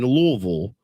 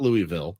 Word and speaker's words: Louisville: 3:30 on TBS in louville is how you say it not Louisville it's it's louville uh and by the